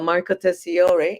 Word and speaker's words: Marco Tessiore: And Marco Tessiore, if I'm not mispronouncing it, You're is correct.